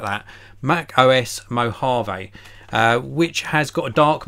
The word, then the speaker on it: Mojave: nor really it's gonna be called Mac OS mojo V and I know it's not pronounced I like that Mac OS Mojave which has got a dark mode so this